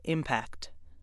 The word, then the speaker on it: impact: Word 6 has two pronunciations. When it's used as a noun, it's pronounced impact.